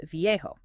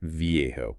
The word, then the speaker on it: viejo: Okay, let's take the Spanish word for old, which is viejo, pronounced roughly vo. Got it. Vjo.